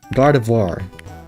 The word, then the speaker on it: Gardevoir: It's not vo. It's voir. Okay. Gardevoir.